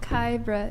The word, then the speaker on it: Kyra: Kyra. It's like the word Kyra.